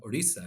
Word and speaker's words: Orissa: To go back a little bit, my parents emigrated from a smaller state in India called Orissa is the pronunciation for it, in eastern India.